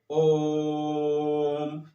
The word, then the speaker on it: ओम: में करते हैं ना बहुत से लोग ऐसे बोलते हैं ओम लेकिन नहीं ये गलत है इसको कैसे बोलेंगे ओम यानी ओ को कितनी बार बोलना है ये उ नहीं है